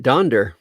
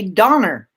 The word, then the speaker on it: Donder: Yes, you're talking about Donder. I am, and most people say Donner, and it's Part of part of that comes from a TV show, Rudolph the Red-Nosed Reindeer from the 1960s.